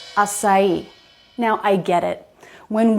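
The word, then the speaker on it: açaí: come on this one is written with stress on the last syllable its acai not acai do you know this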